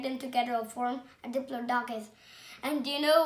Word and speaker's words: Diplodocus: I'm going to tell you how to pronounce it. Diplodocus. Diplodocus.